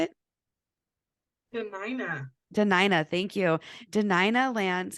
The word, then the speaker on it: Dena'ina: wrong Deni is that how you say it denina denina thank you denina lands in Anchorage Alaska